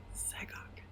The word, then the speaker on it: Xagok: Zagok is spelled Xagok. Zagok.